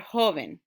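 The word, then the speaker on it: joven: look at the word hoven that ends in the vowel enter s right so when i say the word the stress would naturally go on the first syllable hoven but if i'm going to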